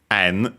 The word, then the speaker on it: en: Yeah, we have yen, actually en pronounced in Japanese, yuan in Chinese,